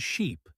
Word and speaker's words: sheep: One I hear a lot is mixing up ship and sheep. That short I versus the long E, it changes the whole meaning. Oh yes, and also live and leave same problem, vowel length.